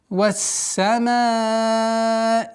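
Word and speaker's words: والسماء: Здесь солнечный звук. Уходим на син. Полноценное произношение звука син со свойством свист. Вассамаи. Удлинение в размере 4 огласовок. Применяем. Вассама. Удлинение. Вассамаи. После долготы нужно четко произносить огласовки кесра. Вассамаи.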